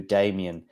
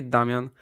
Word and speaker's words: Damian: name but but then how would you say in Polish by the way um yeah we say Damian oh so there we